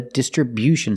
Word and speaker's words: distribution: their products from the Distribution Center distribution with the stress on the first and third syllable distribution again they distribute